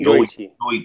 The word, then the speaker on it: Yoichi: Yoichi.